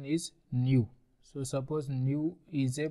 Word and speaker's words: nu: distribution so now we Define chi-square distribution let new be a positive integer this symbol is known as New pronunciation is new so suppose new is a positive integer or